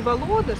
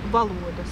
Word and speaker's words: valodas: Ударение все время в латышском языке на первый слог. То есть не володас, а володас получается.